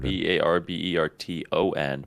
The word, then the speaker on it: Barberton: b-a-r-b I say Barbara b-a-r-b-e-r-t-o-n but it's pronounced in Barberton I'm glad that you put emphasis on the T Debbie and don't use a d Barberton people say Barberton